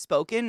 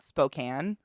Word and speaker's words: Spokane: the books hold on let me cheers it's pronounced spoken not Spokane spoken shut up and there's still people that pronounce it Spokane Colville who are these people he regretted it